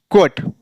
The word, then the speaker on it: quota: क्वट means उद्धरण, न कि कोट। यह कोट पढ़ेंगे तो गलत हो जाएगा। ऐसे यहां पर भी देखिए QUERY क्वेरी, न कि कवेरी, यह गलत होगा। ऐसे QUOTA क्वोटा, न कि कोटा।